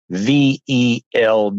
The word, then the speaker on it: veld: called Man, Cattle, and VELD. You pronounce the V as an F, and that word means grass.